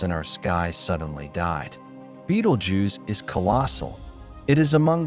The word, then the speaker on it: Betelgeuse: Beetlejuice, pronounced Beetlejuice, Beetlejuice is no ordinary star.